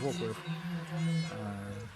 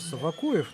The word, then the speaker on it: Вокуев: и опять хочет сказать, что Еремил Вокуев не так произносится Вакуев, но я свое мнение по этому поводу уже высказывал не раз. Могу высказать еще раз. Правильно, Вокуев.